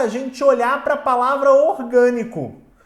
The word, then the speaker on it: orgânico: Então basta agora a gente olhar pra palavra orgânico. Quando a gente pega a palavra orgânico, a gente observa, ó, que a sílaba mais forte é o g. Então ela de fato é uma proparoxítona. Guilherme, se a palavra for